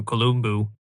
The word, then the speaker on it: Columbu: In this picture, we have Arnold with his colleague Franco Columbu. And by the way, I pronounce his last name this way because he was Italian from Sardinia and it's actually pronounced that way.